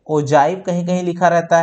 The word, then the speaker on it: ogive: ओजाइव कहीं कहीं लिखा रहता है अंग्रेजी में, और इंग्लिश में OGIVE लिखा रहता है, राइट।